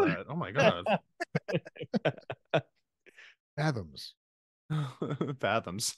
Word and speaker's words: FZMZ: as a special band called FZMZ, pronounced Fathoms.